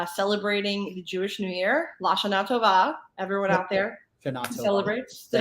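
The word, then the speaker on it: L'Shana Tova: Lashana Tova.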